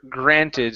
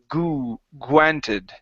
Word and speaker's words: granted: G granted so uh sometimes Neils when you are pronouncing a gr together the r is changing into a u sound so when you're saying this word instead of saying G granted you're saying goo granted okay so watch that